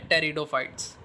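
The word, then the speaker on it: Pteridophytes: तो व होते हैं टेरिडोफाइट्स इसमें पीछे जो है वह साइलेंट होता है टेरिडोफाइट्स जो होते हैं वह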